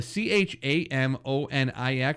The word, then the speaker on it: Chamonix: It's Chamonix. It's weird. It's spelled weird, but it's Chamonix.